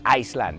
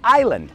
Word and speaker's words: Island: Fijaos, ¿yo he dicho Iceland? Claro que no, porque no se dice Iceland, es Island, la S silenciosa.